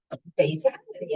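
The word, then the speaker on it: Fatal1ty: as the first prominent Esports player and is Fatality and that's actually how you pronounce that I got a hel her here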